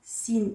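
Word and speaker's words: س: Faites attention les enfants, Sin, il est léger.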